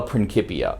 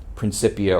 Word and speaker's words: Principia: most often just the principia or principia or principia depending on how you think latin cs are supposed to be pronounced i will usually say